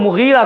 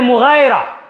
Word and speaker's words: মুগায়রা: উচ্চারণ কেউ কেউ মুগীরা করেন, ইসমে তাসগীর হলে মুগায়রা। তো ওয়ালিদ বিন মুগায়রা সে রাসূল পাকের শানে একটা বেয়াদবি কথা বলেছিল।